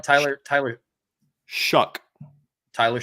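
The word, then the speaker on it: Shough: I pronouncing his last name right Tyler Tyler shuck Tyler shuck okay it's pronounced like sh sh u k okay I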